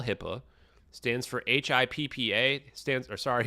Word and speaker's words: HIPAA: And then he started arguing that, that's a HIPAA violation, which I don't think he could even spell HIPAA. Stands for HIPPA. It's spelled HIPPA.